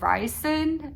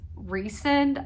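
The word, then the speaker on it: Rhysand: first one too but Reon is apparently how you say his name I thought it was Ry but it's Recon I just found that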